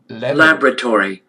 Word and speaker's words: laboratory: Laboratory. Laboratory. Laboratory. Laboratory. Laboratory. Look, United Kingdom is different. Laboratory. Laboratory. Laboratory. Laboratory. Laboratory. Laboratory. Laboratory. Laboratory. Laboratory. This is voice something between A and E.